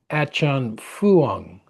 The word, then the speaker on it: Ajahn Fuang: And he has a teacher who his teacher was Ajahn Fuang, I think is the proper pronunciation.